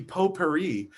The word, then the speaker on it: potpourri: No, the T is silent. It should be Potpourri.